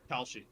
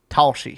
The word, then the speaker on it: Kalshi: Kalshi. Talshi. How you spell that? Kalshi. Kalshi. Kalshi. Okay, I thought you said Talshi.